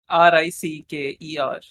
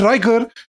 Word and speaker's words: Ricker: I thought the name was familiar, but I've always called him Sean Ricker, not Riker. And I heard Riker, and You call him Ricker? it's R-I-C-K Ricker Rick and E-R Morty.